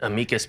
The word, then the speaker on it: amicus: So those are what we call amicus briefs. Some people pronounce it amikas briefs.